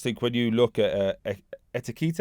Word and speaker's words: Ekitike: But I just think when you look at Ekitike, I say it wrong every time. Ekitike. Ekitike, that's it.